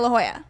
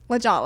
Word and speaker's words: La Jolla: have to do something so we're going to La Jolla because that's the only thing we can do right now um so we went to La Jolla or as Megan initially said legal and I was like it's not I did